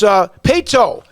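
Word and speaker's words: Paetow: And then a school that I had to constantly, how do you pronounce the name? Just being honest. It's Pato out of Katy.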